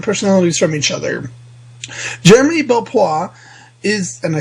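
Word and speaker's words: Belpois: have very different personalities from each other Jeremy BPA is and I said it right this time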